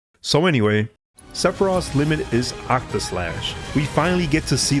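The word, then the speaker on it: Octaslash: least seph's most lethal attack is limit break octo slash I'm just kidding I know I know it's pronounced OCTA slash but every time I see this limit it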